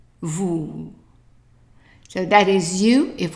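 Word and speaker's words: vous: word here and again here is an s that is not pronounced we have an o u how would we pronounce that right ooh so how how would we pronounce the whole thing correct Vu Vu so that is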